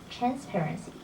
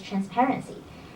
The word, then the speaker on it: transparency: six the word is transparency the stress is on the second syllable not transparency so the correct one is transparency I think you have